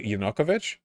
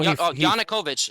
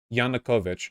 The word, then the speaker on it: Yanukovych: not violent vosh the the inokovich yeah no yanukovych say it right yanukovych he fled on his